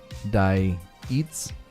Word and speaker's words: Diets: the middle eastern pronunciation my last name is diets pronounce die eats stop correcting people zubair zubair yeah that's